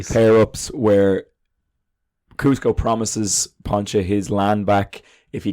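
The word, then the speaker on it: Pacha: at work there there's Pancho voiced by John Goodman I definitely got that name wrong but it's pancha and then there's Emperor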